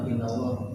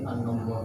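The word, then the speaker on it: أَنَّ اللَّهَ: Titelnya bukan inallah tapi an-Allah.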